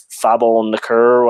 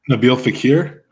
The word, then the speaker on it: Nabil Fekir: Like, I think that guy from France, is it Fabel Nakur? I don't know how to pronounce his name. Nabil Fekir?